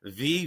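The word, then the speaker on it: Vater: the companies is called VA v a t er it's like the German pronunciation of water and if you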